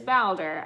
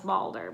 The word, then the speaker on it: Baldr: norse god Baldur and it is Bowser I looked it up I thought it was Balder but then I looked for pronunciations and found out otherwise I'm gonna be telling